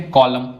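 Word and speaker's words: column: कॉलम इसमें N silent है।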